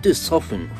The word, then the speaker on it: soften: す。dark, darken, bright, brighten, weak, weaken, soft, soften, fright, frighten。